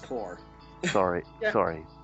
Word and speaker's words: Corps: not pronounced corpse. It's pronounced core.